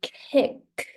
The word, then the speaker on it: kick: So kick. The second K, you want to pronounce it strongly too. Kick. The air still comes out. Kick. Like this.